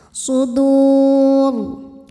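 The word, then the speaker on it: صدور: Ra-nya jika berhenti dibunyikan secara tafkhim. Kenapa? Karena ra-nya ini disukunkan. Huruf sebelumnya kebetulan huruf sukun juga dan bukan ya sukunnya ya. Maka penentunya adalah dal, huruf ketiga terakhir. Karena dal berharokat di atas maka ra tebal.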